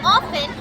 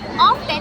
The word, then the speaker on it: often: For example, it is pronounced often in British English where T is silent, but often in American English where T is included.